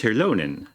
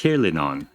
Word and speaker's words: Hirlinon: Oh, I said it wrong. It's Hirlinon.